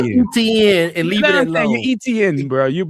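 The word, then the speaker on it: Etienne: Just say ETN and leave ETN, bro.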